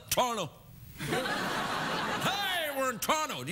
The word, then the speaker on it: Toronto: even call it Toronto I pronounce it like locals say Toronto I call it torto hey we're in Toronto